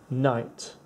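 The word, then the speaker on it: knight: Here, K is silent, so it has no button. N, I, T, night.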